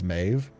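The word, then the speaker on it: Maeve: Mind blown when I learned Mev is Mave. Oh, it's Mave.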